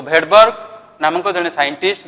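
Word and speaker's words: Svedberg: unit एठी mark कर मु भेडबर्ग लिखुची किंतु भेडबर्ग कहूची एस टा साइलेंट रहउची सो सही एस जो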